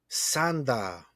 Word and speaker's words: Sanda: It's a pretty much a Sanda anime. Sanda anime? That's what it's called. It's You, called Sanda. you mean like Santa Claus? Yeah, but Uh, it's spelled Sanda.